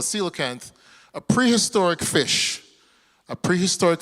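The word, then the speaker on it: coelacanth: It looks weird, the spelling, but it's called a cilocanth.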